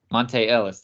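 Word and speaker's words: Monta Ellis: Monte Ellis. There it is. See, I was saying Monty. That's why I was throwing me off. I was saying it wrong.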